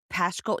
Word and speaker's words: Paschal: Is that how you say his name? Paschal. Paschal or Paschal? Yeah, it's Paschal.